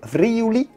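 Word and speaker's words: Friuli: the alps near austria and from freyja friu vriuli that's how it's said that's to the very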